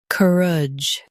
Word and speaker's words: courage: Stress cur and keep idge soft.